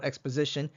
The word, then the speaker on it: XPos: Although it's spelled xpos, we call it xosition.